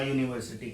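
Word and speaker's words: university: क्योंकि बेशक ये वोवल की स्पेलिंग है, लेकिन जब इसको बोलेंगे तो या साउंड प्रोड्यूस होगा यूनिवर्सिटी के लिए।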